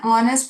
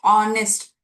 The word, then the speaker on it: honest: He was an honest police officer. Although the letter is H, we don't pronounce it using consonant sound of honest.